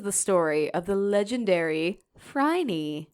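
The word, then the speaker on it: Phryne: these letters don't exist I listened to three pronunciations and they were all like fry and even one was like not that I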